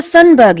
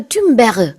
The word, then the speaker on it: Thunberg: 그레타 툰버그, 영어로는 이제 툰버그라고 하지만 툰베리. 현지 언어로는 그레타 본인이 그레타 툰베르 뭐 이런 식으로 얘기를 하더라고요. 약간 프렌치 발음이랑 비슷한 발음인데 그래서 우리는 한국에서 그냥 툰베리 이렇게 얘기를 합니다.